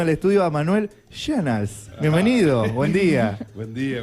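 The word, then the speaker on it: Schön: La O tiene diéresis, hay que aclarar eso. Que mi apellido tiene diéresis en la O, entonces la O cambia por E en la pronunciación en alemán.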